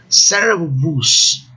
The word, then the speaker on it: servus: Servus. Vejam essa palavra, interessante, aí 2 U's. O primeiro U sofreu um processo de consonantização, né? E aí no dicionário pode aparecer com V, servus, né?